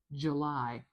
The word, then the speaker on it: July: There's the first symbol for the sound in j j July. Now, I am going to put a schwa here. j j This is a very weak, very short, very featureless vowel sound.